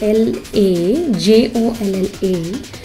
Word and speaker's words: La Jolla: it's a Mexican name it is spelled as L A j-o-l-l-a Kani it's pronounced as La Jolla that means dwell entertain